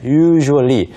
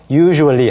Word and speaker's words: usually: 생각을 안 한다면 평소에는 usually 이것을 발음을 할 때 조금 주의하셔야 됩니다 US 아니고요 아니고요 조금 세는 발음 처럼 할 때 그것을 조금게 하셔서 usually 하시면 좋겠고요 그래서 usually 평소에는 보통